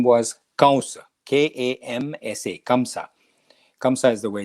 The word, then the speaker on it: Kamsa: king was evil and his name was kausa k-a-m-s-a kamsa kamsa is the way it's spelled but it's pronounced cows so during the wedding of dev ki and